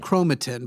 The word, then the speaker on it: chromatin: proteins DNA and RNA uh chromatin correct it's pronounced chromatin but that's fine it's not I'm just [